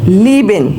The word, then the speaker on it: lieben: So if we see any word having IE, so how to pronounce it is that a bit long E, that is for example lieben, which means to love in English, that is lieben.